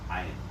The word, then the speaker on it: ayin: Ayin.